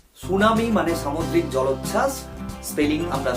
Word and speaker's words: tsunami: ভাবে আমরা করে থাকি, জাপানিজরা এই সুনামির ঠিটা ঠিক একই রকম ভাবে উচ্চারণ করে।